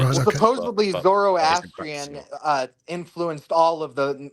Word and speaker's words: Zoroastrian: Zoroastrian.